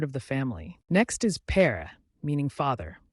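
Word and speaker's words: père: the family next is per meaning father pronounced pair like in English pair fathers often play a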